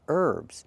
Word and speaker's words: herbs: You're talking about herbs, where the H is silent.